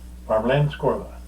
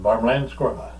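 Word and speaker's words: Värmlandskorv: It's kind of hard to say, but Varmlandskorv. And it doesn't look like, it doesn't pronounce, you don't pronounce it like it's spelled, because it looks funny. So, Swedish potato sausage, Varmlandskorv.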